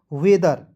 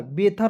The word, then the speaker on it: weather: THER को पढ़ेंगे दर, ठीक है, हो जाएगा वेदर, बेथर नहीं पढ़ेंगे, ठीक है, वेदर।